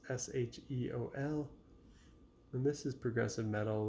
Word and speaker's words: Sheol: And their album, not sure how to pronounce it, maybe Sheol or Sheol. It's Sheol.